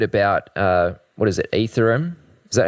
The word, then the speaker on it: Ethereum: Etherum. Is that how you pronounce it? Yeah. Uh, Ethereum is the name of the network.